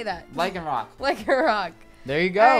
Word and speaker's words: Lycanroc: Lycanroc.